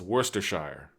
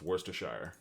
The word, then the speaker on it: Worcestershire: So it's Worcestershire. It's Worcester, and then it's Shire. So it's Worcestershire.